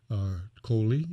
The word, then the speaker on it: Coley: jackson and our special guest is ms sheila coley i hope i pronounced your last name correctly yes that's correct